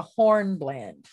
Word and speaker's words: hornblende: to talk about the horn blend it's spelled h-o-r-n-b-l-e-n-d-e the black part found